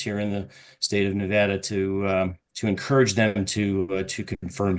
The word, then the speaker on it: Nevada: So if you just use a New Jersey accent, you can say Nevada. Put on your Jersey Shore accent and you can... I know it rhymes with Vlad. It doesn't mean I can say it correctly.